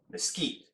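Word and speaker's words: mesquite: my favorite is a uh mesquit marinade or as the Native Americans pronounce it mosquite now I've already poured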